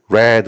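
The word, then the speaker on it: read: 적다 필기 했다라는 뜻이에요 그러니까 이 동사로 이드는 과거형 인 레드 로 발음해야 됩니다 발음 기어로 쓰면 이렇게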